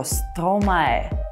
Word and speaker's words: Stromae: Последний слог «мае» и «стро». И получается «маэстро».